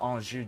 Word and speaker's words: Anjou: The Angio dynasty. Wait, the way that it's spelt, does that mean it... Oh, it's... Oh, right, of course. This is a different Anjou dynasty.